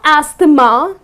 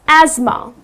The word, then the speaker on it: asthma: suffering from this disease called asthma it's not asta ma ok because the way it's spelled people tend to pronounce it incorrectly people tend to say hasta ma but it's not a steamer the correct pronunciation is asthma ok so that's that correct pronunciation another word